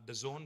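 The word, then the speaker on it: DAZN: It is pronounced The Zone, but it's spelled D-A-Z-N. Now, The Zone is a global leader in sports live streaming.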